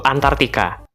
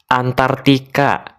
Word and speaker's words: Antarktika: tinggal secara permanen yaitu Antartika eh apa coba ulangi lagi antarktika hmm yakin well sebenarnya ini lebih ke arah Bagaimana ejaan yang tepat untuk benua abu-abu ini sebenarnya Amigos ejaan yang tepat adalah antarktika yeah tapi kalau mau